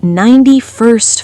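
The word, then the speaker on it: ninety-first: In fast speech, the t in first almost disappears. It sounds like 91st floor.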